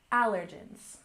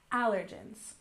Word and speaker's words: allergens: We stress the first syllable, allergens, allergens. So allergens are foods that typically cause allergic reactions in people.